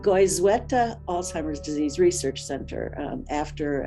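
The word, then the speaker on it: Goizueta: which has been renamed the gwyzetwa no goyzweta that's how you say it goes weta alzheimer's disease research center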